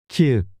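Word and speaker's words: 키읔: 키읒. K. This is pronounced like a strong K in kite.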